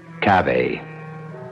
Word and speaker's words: cave: I equate cave with a Latin word spelled the same way c-a-v-e but pronounced Cafe it means beware our